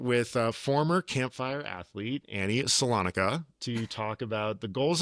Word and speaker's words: Solonika: Uh, today I am joined by athlete Annie Solana. Did I pronounce that right? Nope. Salonica.